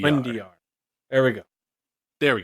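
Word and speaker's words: Quendiyar: Quendiar. Quendiar.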